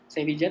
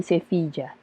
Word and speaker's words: Sevilla: Ada yang tahu nggak lokasi syuting film apa di Sevilla? Dibacanya Sevilla ya, bukannya Sevilla ya? Jadi kalau misalnya orang Spanyol itu bilangnya kalau nggak Sevilla atau Sevilla. Oke. Tergantung aksennya dari lokasi di mana kita tinggal.